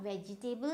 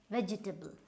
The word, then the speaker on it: vegetable: And then we have again not vegetable, it's vegetable. So again your E and your A, right?